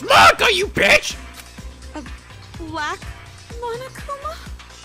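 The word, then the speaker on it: Monaca: It's pronounced Monica, you bitch!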